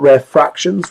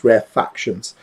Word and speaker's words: rarefactions: Not rare fractions, rarefactions. So rarefactions are where what do those lines represent?